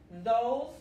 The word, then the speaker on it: those: Those para esos, those. Otra vez, la S se pronuncia como una Z y la E al final es muda, como en muchas palabras de inglés.